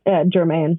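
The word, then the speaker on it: Germán: I noticed in the acknowledgments at the back of the book that you give special thanks to, I guess it's pronounced German? German, yeah.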